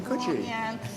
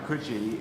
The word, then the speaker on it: Coogee: In Coogee?